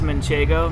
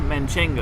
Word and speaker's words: manchego: uh-huh manchego yeah so for whatever reason everybody calls manchego manchingo yeah where did that come from that's the most um mispronounced cheese name i i think is munchango no manchego so i thought it'd